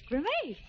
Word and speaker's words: grimace: How do you pronounce this? Grimace or grimace? Oh, grimace. Uh-huh. It's grimace.